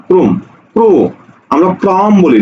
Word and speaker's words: ক্রম: করবে পার্থক্য এতটুকুই দেখো ক্রম ক্রম শব্দের উচ্চারণ কি হবে ক র ফলা ও কার মক্রম আর আমরা জেনেছি প্রথম বর্ণে যদি র ফলা থাকে উচ্চারণের সময় তার সাথে যদি কোন কার না থাকে সেক্ষেত্রে ওকার হয়ে যায় অর্থাৎ র ফলা যুক্ত কার বিহীন বর্ণটি ওকার দিয়ে উচ্চারণ করতে হয় এজন্য হয়ে গেছে কি ক্রোম ক্রোম ক্রো আমরা ক্রম